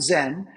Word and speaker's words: Zen: And he goes, Chan is how you say Zen in Chinese. The Japanese came, studied Chan, they pronounce it Zen, they took it to Japan, now it's all over the world.